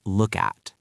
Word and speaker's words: look at: Think about the phrase look at. You want to show someone something. You say, look at this. Look ends in K. At starts with A. Link them. Look at.